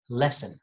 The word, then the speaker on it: lesson: So if you see two consonant letters next to each other, just pronounce one of them. So just say lesson.